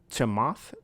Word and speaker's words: Chamath: His name is Chamath, CHAMATH, and his last name is Palafedia. I feel like if I pronounce that correctly, that is not the best name.